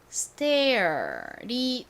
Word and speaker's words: stair: 때요 그때도 알려드렸던 부분인데 air은 통째로 어떤 발음으로 외워두시면 된다고 말씀드렸죠 바로 air이었죠 air은 묶어서 Air 발음이 난다 요렇게 기억을 해주시면 단어를 읽으실 때 굉장히 편리합니다 자 요거를 적용해서 읽어 보면요 air이 air이니까 stair이 됩니다 그런데 여기서 하나 유의해 주셔야